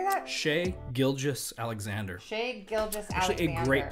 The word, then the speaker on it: Shai Gilgeous-Alexander: Shai Gilgeous-Alexander.